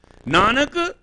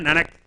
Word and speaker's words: Nanak: Nanak is not Nanak. It is in the sound.